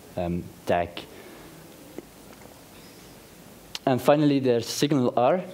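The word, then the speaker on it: SignalR: to any HTML um tag and finally there's signal R it's pronounced like that s signal R hence the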